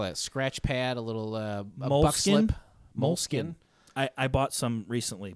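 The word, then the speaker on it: Moleskine: It's spelled weird, moleskin. Mm-hmm. The actual like brand. It's like Skine.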